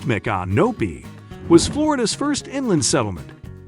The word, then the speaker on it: Micanopy: With only 700 residents, Micanopy, pronounced Micanopy, was Florida's first inland settlement after the United States acquired Florida.